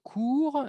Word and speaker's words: cours: Du cours 6 au 9, de la clase 6 a la clase 9, un cours en francés sin pronunciar la S significa una clase.